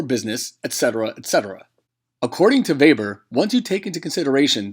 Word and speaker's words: Weber: in 1909 by alfred weber who was a german economist and is for this reason we pronounce it Weber he devised his model